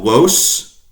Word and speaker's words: vos: You guys, plural, 2 or 2 million, is spelled with a V, vos or wos, nominative, wos, accusative, wobis, dative, to you or for you.